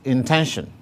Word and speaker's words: intention: The next word is intention. Here again, the primary stress is on the syllable 10. Therefore, the stress mark, that is primary, is placed on it thus.